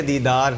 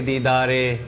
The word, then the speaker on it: دیدار: ہو گیا تھا، اور تلفظ کی ادائیگی، لفظ ہے دیدار، نہ کہ دیدارے۔ اب سنیے، ایسا تجھے خالق